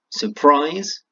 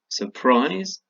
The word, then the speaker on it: surprise: two syllables question Kristiana surprise oh boy that one again surprise today travel and worry okay all of them at the stress on the second syllable did you get it